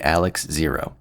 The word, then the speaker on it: XARX: I the narrator and everybody online who knows Japanese, a lot of them are saying it's pronounced Alex.